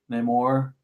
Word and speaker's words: Namor: Is that the one where they're talking about possibly Namor?